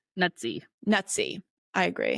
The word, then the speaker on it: Nuzzi: Olivia Olivia is it newy how are we going to pronounce her name nutsy nutsy I agree it's probably that's probably the pronunciation rhy it's like pizza nuty gate other people